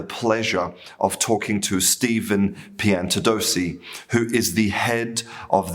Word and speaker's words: Piantadosi: Um I hope I pronounced your name correctly, Piantadosi. Um Yes, that's right.